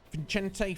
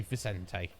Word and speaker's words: Vicente: but it's their answer vincente fernandez was that vin vincente oh sorry vicente my pronunciation uh it doesn't matter